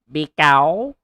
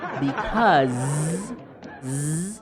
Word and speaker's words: because: the hotel be be be cow I like to speak English be cow I like to spit English you should say because the Z sound Z because because I like to